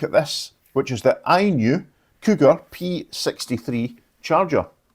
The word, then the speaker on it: INIU: It's pronounced INIU.